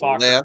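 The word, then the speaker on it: Focker: him on Pronounced his Fokker. left, I pronounce it Folker.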